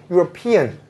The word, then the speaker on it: European: word is not European the stress is not on rup it's on P European just like what you